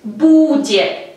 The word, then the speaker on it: будет: verbo быть, que es будет, будет. A nuestra raíz bud hay que añadir terminación yet. Будет, будет. El acento cae en la letra U, будет.